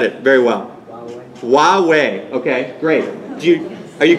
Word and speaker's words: Huawei: I don't know how to pronounce that in correct Chinese. Someone who speaks Chinese can tell me. Go ahead. Hawaii? What's that? Huawei.